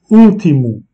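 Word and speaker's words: último: Ultimo, dernier, qui veut dire dernier. L'accent est placé sur le U, donc l'accentuation est faite sur le U, ultimo, qui veut dire dernier.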